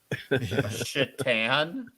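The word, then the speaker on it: Šatan: i could get a chetan shirt chittan yeah cause it's spelled s-a-t-a-n oh yeah yeah right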